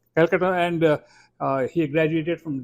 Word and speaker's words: Kolkata: He was born in Kolkata. I would that's what I would say but they call it differently now Kolkata that's the actual present I mean in native pronunciation yeah Kolkata and uh he graduated